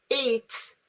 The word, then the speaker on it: Yeats: is the reason why, you see, Yeats, Irish poet and dramatist, doesn't rhyme with Keats, English poet.